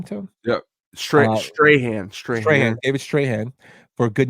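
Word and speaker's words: Strathairn: Strahan.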